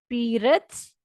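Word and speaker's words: перец: रद्स की अगर आपको स्पेलिंग नहीं समझ आ रहे तो रद्स, जैसे हम कहते हैं ना मेरी बात को रद्द मत करो, तो नल करना जिसको हम कहते हैं उर्दू में।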